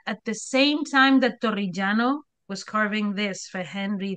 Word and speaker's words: Torrigiano: So Torrigiano, that's the best I can do with his name. That was pretty good. Thanks, thanks. Okay, You just have so to roll your R's a little bit more.